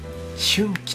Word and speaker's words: 春暉: 最初の課題のこちらで春季と読みます春季春の光と